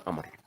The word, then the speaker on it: Amr: Pakai wawu, kalau tanpa wawu dibacanya Umar. Kalau pakai wawu dibacanya Amr. Amr tapi tanpa panjang. Amr.